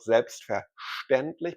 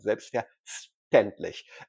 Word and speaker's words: selbstverständlich: But the Hamburg dialect, however, pronounces the ST combination, both letters separately, like an English speaker would do. So it's not selbstverständlich, but selbstverständlich.